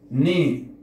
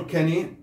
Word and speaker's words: knee: لاحظ الكي ما تلفظ، إذا جاء حرف كي بعدين إن الكي لا يلفظ، مثل كلمة نايف سكين أيضا. ني لاحظ لا نقول كني، ني ركبة.